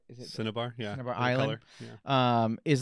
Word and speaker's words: Cinnabar: Is it Cinnabar?